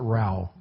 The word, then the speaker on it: Ra: just had me answer back, I am Rao. Rao like Ra. Ra, yeah, they pronounce it Rao.